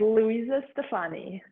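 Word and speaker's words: Luisa Stefani: Louisa? Yes. Stefani? Correct. Louisa Stefani.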